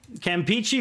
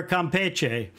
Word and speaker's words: Campeche: the way is called uh campichi or Campeche Campeche in Spanish obviously Ian I want to know you pronounce the the bay up here uh Campeche I pronounce it Campeche I don't know I've always done that the English pronunciation but bottom line is